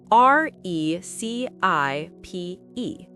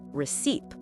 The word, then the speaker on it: recipe: They put the stress on the second syllable and say receipt. But that's wrong. The correct way is recipe. The stress is on the first syllable. That's right. Recipe. Let's practice. Recipe. Recipe. And remember, the C here sounds like an S.